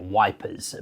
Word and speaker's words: Ypres: recognized pronunciations which is ipra kind of EP and then like r on the end IA the last piece